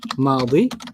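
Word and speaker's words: ماضي: Past is madi. Madi. Like Maddie.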